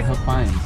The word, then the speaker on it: Huffines: Like Huffins, I would say Huffins. They say Huffines.